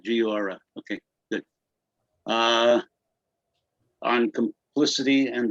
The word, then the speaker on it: Giora: Yeah, that's how he likes to do it. Uses the whatever pronunciation, Giora.